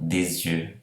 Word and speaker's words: des yeux: Então, des yeux, liaison, né?